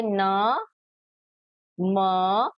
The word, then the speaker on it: नमः: होता है अह जैसे न म ह तो ये क्या होता है ह ये दो बिंदु किसकी तरह प्रोनाउंस होते हैं ह न म ह नमः छ ह छ तो यह दो बिंदु किसकी तरह होते हैं?